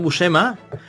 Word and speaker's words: Buscema: Pues Barry Windsor Smith, y luego el gran, increíble John Buscema, como se pronuncia en italiano, en inglés lo llaman Buscema, en España, en italiano se llama Buscema.